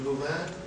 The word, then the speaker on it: Louvain: This is from the Louvain, and now how do I pronounce this? Louvain University? Correct.